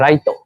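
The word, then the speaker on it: ライト: Lampu in Japanese is called, sorry, lampu in Japanese is called raito.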